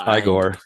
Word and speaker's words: Igor: castle he's met by he meets uh eigor or as he likes to be pronounced igore played by Marty Feldman